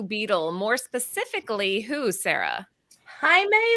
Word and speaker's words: Jaime: Jaime Reyes. Hi. Yes, I'm glad you said it right. Yes. Wait, Lucy, it's not Jamie?